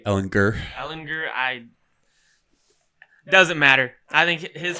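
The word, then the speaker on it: Ehlinger: Ellinger. It's a hard G. Ellinger.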